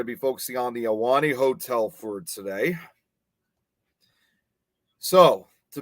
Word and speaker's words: Ahwahnee: national park's most luxurious lodging option was the alani hotel the iwani hotel that's how it's supposed to be pronounced built in 1927 the high-end hotel was